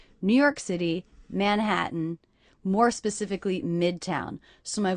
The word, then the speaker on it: Manhattan: That would be Manhattan, but I'm saying Manhattan with a little break. That means these T's are stop T's. In Manhattan, in Manhattan. Also, the last syllable, is really just the N sound. So the letter A there is representing the schwa sound.